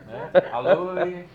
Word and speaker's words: Aloe: Aloe. O aloé também, né? Aloé, isso. Sinto lhe informar, mas a pronúncia do latim científico é aloe. Aloe, né? OE lidos separados e a tônica vai estar no A.